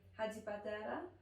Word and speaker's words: Hadjipateras: up too and my last name is actually hadi padera but people told me at drama school it's gonna be difficult for people to pronounce it or remember it so i've gone